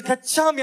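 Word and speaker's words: गच्छामि: They used to hit us if we get the pronunciation wrong. It's Gachami.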